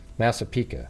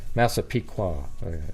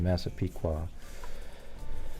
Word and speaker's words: Massapequa: that make sense everybody our massive Pica or massive Pica why do I keep saying I don't even know how to say it it's just uh yeah massive that's how I said it originally massapeeka that's how I said it earlier oh a pequa okay Massapequa I think I